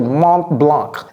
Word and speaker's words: Mont Blanc: Et les Américains prononcent un tout petit peu le C, Mont. Donc, vous allez entendre Mont Blanc.